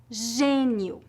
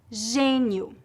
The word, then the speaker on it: gênio: médico médico América América se a vogal e tiver acento gráfico circunflexo ou Agudo mas for seguida pelas letras n ou m a pronúncia geralmente é nasal há variações de acordo com o sotaque de cada região por exemplo gênio gênio autêntico autêntico parabéns parabéns e se